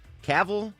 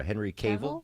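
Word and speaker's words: Cavill: Caval, how do you pronounce that? Uh, Deborah. Henry Caval.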